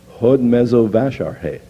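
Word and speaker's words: Hódmezővásárhely: This is the city in which our partner church is located, and it's pronounced just the way it looks. Hod Mezo Vasharhe.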